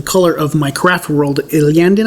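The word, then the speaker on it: Iyanden: Iliandin, I think, is how it's pronounced.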